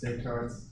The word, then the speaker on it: Descartes: about huh you know the cards talked about a card yeah remember the French do not pronounce the last letters the French do not pronounce the last letters the card s is not pronounced and unless certain uh